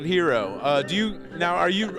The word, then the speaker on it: gyro: while i like a euro okay you pronounced it properly so you call it hero do you now are